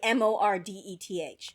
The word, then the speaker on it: Mordeth: It's literally Mordeth. It's Mordeth. His name is Mordeth. Like there's no other way to pronounce this.